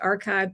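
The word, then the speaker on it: arXiv: found this data source called archive, but it's spelled with an X in the middle.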